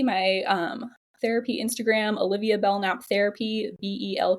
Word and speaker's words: Belknap: So you can find me my um therapy Instagram, Olivia Bellnap Therapy. BL K nap. The K is silent.